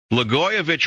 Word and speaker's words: Blagojevich: Blagojevich rhymes with itch.